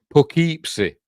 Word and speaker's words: Poughkeepsie: Poughkeepsie.